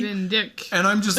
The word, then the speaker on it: Van Dyck: It's Van Dyke, I believe, but it's spelled D-Y-C-K. Van Dyck.